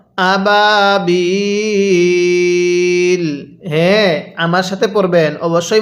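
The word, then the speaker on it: أبابيل: ওয়াও আলিফ ইয়া এর পরে যদি ওয়াকফ করা হয় তাহলে সেখানে তিন আলিফ টানতে হয় যেমন এখানে ইয়া এর পরের হরফে ওয়াকফ করা হয়েছে লামের মধ্যে এজন্য এখানে তিন আলিফ টানতে হবে তাহলে কিভাবে পড়বো আবাবিল হ্যাঁ আমার সাথে পড়বেন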